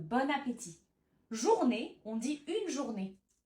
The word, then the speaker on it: bon appétit: On fait la liaison, donc on prononce bonne, bon appétit.